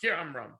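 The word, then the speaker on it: כְּאָמְרָם: It's written Bi'amram, but we pronounce it Ki'amram.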